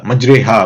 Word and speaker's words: மஜ்ரேஹா: அதே மாதிரிதான் இந்த மஜ்ரேஹா அப்படிங்கிற வார்த்தையும். மஜ்ரேஹா அப்படிங்கிறது அரபிய மொழியில வந்து மஜ்ரீஹா அப்படின்னு எழுதுவாங்களாமா. ஆனா ப்ரொனவுன்ஸ் பண்றப்போ மஜ்ரேஹான்னு ப்ரொனவுன்ஸ் பண்ணணும். சோ இது வந்து குரான் படிச்ச